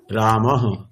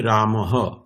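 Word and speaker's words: রামঃ: করুন আমি পড়ব পড়ুন বিসর্গের উচ্চারণ হকারের মত হবে যেমন রামহ এইখানে উচ্চারণটি হবে রামহ অর্থাৎ অর্থাৎ যে স্রবর্ণের পরে বিসর্গ থাকবে বিসর্গের স্থানে হকার বসিয়ে হকারের পরে সেই স্বরবর্ণটি যুক্ত করে উচ্চারণ করতে হবে।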